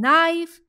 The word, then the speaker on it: knife: In knife and not, K and K are the silent alphabets.